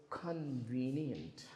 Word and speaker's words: convenient: Uh, the next one is convenient. Okay guys, how many syllables are there? How many syllables are there? Three syllables. And where is the stress? Two. second syllable.